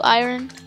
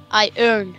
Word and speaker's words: iron: I have like 22 iron. It's iron. Iron. Iron. My English friend said so. Iron. Iron. Iron. I earn money. Yeah. Yeah, that's how you have to pronounce it. I earn. It's right, iron.